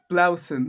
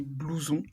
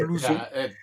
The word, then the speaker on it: blouson: And yeah, well, for Blausen, for starters, that would actually be blouson, which doesn't Right. sound Right. anything like how you said it. No. But it's Right. blouson.